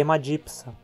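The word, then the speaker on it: Haemadipsa: Já uma sequência como PS, onde a segunda consoante é S, sempre é separada em duas sílabas. Assim, aqui temos de novo uma consoante no fim da penúltima sílaba e, portanto, a pronúncia é hemadipsa.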